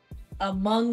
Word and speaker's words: Hmong: Hmong legend? The H is silent. Among legend.